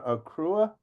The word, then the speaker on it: Accra: But I want to ask you a couple things, because Jesse, you're in, how do you pronounce it now? Accra, Ghana.